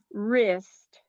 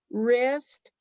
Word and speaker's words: wrist: a rift there is the w is silent greece wrist recess i'll tell you a little secret about silent w's like when you write w-r-i-t-e wrist it means you can